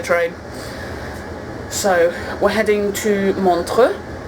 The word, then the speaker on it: Montreux: so we're heading to montre is the correct FR Swiss pronunciation and we are changing